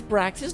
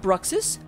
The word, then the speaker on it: Braxis: I thought that Braxis may have like redeemed something, but no redemptions have come through. Oh, it's Braxis, not Bruxis.